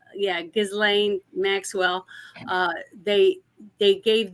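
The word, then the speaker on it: Ghislaine: But uh yeah, about uh the other day they the first thing that was released was the transcripts for the Gazelle Maxwell case, a trial.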